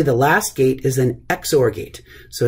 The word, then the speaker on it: XOR: and then finally the last gate is an exor gate so it's pronounced exor uh and you can see here this is